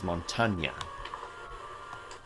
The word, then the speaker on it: montaña: I hope I pronounced that right. Excellent. Just so you know, the Spanish word for mountain is montaña.